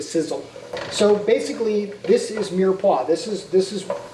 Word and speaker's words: mirepoix: dishes so that's what mirepoix is all about and no it's not pronounced Meyer pokes or I don't know